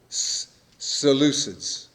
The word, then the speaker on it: Seleucids: Seleucids.